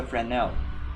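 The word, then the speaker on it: Fresnel: All right, that is the frenel. Even over here the same thing is happening. Frenel fel the s is silent.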